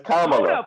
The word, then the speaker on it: Kamala: look my vice president my vice president it's kamala but we're gonna run with it so all